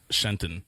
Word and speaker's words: Shenton: It's pronounced Shenton.